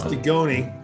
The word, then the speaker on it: Dugoni: First of all, it's Dugoni. Dugoni. And Dugoni. don't mispronounce it.